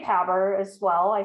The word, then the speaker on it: PABR: that right the p-a-b-r institute or is it pronounced differently i say power as well i say poverty institute yes but